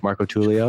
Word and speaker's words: Marcotullio: Marcotullio?